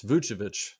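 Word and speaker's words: Vučević: It's Vucevic. I never say his name right.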